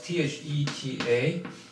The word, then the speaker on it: theta: europe and it is pronounced as spelled as t-h-e-t-a and pronounced theta so we often use greek letter to represent